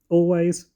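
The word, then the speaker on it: Alvvays: were all good um always which is spelled with two v's so a l v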